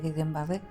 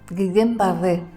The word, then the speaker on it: Guillain-Barré: Y como son dos apellidos franceses, pues ahora lo pronuncio, me sale el acento francés.